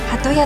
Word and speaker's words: 八十八: はハトヤ浅草漢字で 88 と書いてハトヤと読むハトヤ浅草は隅田